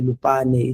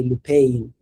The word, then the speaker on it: Lupane: say Bluey, or it can say Lupane, it will say Lupain, and all those things like that.